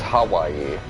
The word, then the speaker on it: Hawaii: So, a portion of the development of this game actually took place in Hawaii. Or, if I want to pronounce it correctly, it's Hawaii. Well, better, but, you know, still needs work.